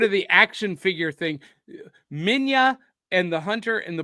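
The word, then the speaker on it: Minilla: to be yeah it's spelled minila but it's pronounced Mina okay well so so I was going with Miller because it sounds like Godzilla but maybe yeah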